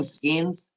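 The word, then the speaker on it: Skenes: Skeens, right?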